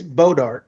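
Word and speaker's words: Bois d'Arc: It's bodark like the tree. Bodart.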